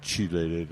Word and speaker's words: chelated: a chelated form and some people pronounced it chilated. I pronounced it chelated because that's the way I was taught.